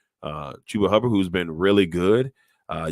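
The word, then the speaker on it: Chuba Hubbard: like chuber Hubert hubber oh it say his name wrong uh chuba hubber who's been really good uh you got guys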